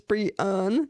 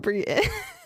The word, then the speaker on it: Brianne: Like, literally, it says, like, my name, like, dictionary definition, and it has, like, the pronunciation, and it's Brianne, not Brienne.